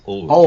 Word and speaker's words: Allwood: Oh, yeah, Oh, Allwood it is. Allwood, yes. Allwood. Oh, yes, I must remember my pronunciations.